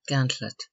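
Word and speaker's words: gantlope: effect running the gantlet see Gant Lop pronounced gantlet to run out a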